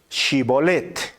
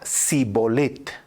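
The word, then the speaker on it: Shibboleth: que pronunciara la palabra Shibolet. Si era de Efraín, diría Sibolet, porque la gente de Efraín le cuesta pronunciar bien esa palabra, es decir, el Shi, ¿no?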